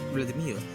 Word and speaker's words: Vladimir: In Russian, the name is pronounced Vladimir and Ukrainian Volodymyr.